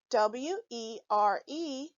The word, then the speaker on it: were: not following the rules e-r-e is the tricky part of this word it looks like it should be pronounced but it's not it is actually pronounced er say er when reading w-e-r-e remember to pronounce the letters e-r-e as er were when writing were